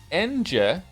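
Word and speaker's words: Ange: I'm here to tell you her name is pronounced Enje.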